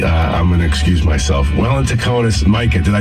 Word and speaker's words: Welintukonis: Welintukonis, Micah.